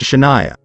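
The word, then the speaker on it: Chahnaiayah: my aunt wanted to name her daughter c-h-a-h-n-a-i-a-y-a-h pronounced Shania I was a teen at the time and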